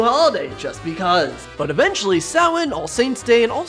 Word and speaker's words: Samhain: No, it's, I know, but it's pronounced Samhain. Yeah, but phonetically, that would say... It's pronounced Samhain, we're moving on.